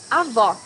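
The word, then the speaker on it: avó: hardest words pronouncing portuguese avoc grandmother here you need to hear the sound of the last o in the syllable it should be an open o as the same portuguese delicioso my grandmother makes a delicious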